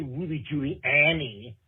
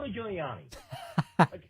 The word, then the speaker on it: Giuliani: how to pronounce okay i don't need you to say ruby julie annie i know what you're talking about you're talking about giuliani you're getting caught up